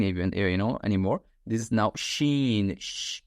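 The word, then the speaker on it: شين: This is now sheen, the sh sound, s and h sound in English. Sheen.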